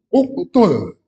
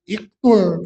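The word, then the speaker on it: اُقْتُلْ: Tapi kalau ain fi'ilnya berharakat dommah, maka ee alifnya dibaca domma. Ya qotala yaqtulu uktul ya. Bukan iqtul tapi uktul ya.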